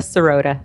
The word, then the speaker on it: Sirota: to have Dr Maria serota I may have have mangled your pronunciation of your last name how did I do it's pretty close it's soda soda soda fantastic and uh so